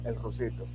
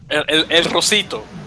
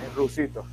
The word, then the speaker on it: El Rusito: Yeah, the people know him like El Rusito. El Rosito. El Rusito. Well, El Rusito, as in the little Russian guy.